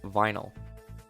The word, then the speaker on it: vinyl: stuck with me the most because I always pronounce it as viny instead of vinyl but also like it's slightly funny that I